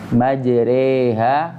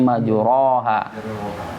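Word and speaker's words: مَجْرٜىٰهَا: Cara pengucapannya yaitu dengan fathahnya dimiringkan ke kasrah. Jadi bacanya bagaimana? Wa qala irkabu fiha bismillahi majreha wa mursaha. Ya, jadi tidak lagi cara bacanya majroha, tapi majreha.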